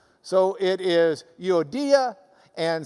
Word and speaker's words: Euodia: Well, if you're from Lubbock, it does indeed look like Euodia and Syntyche. But if you've got the Greek reading next to it, you might as well pronounce it the way they do.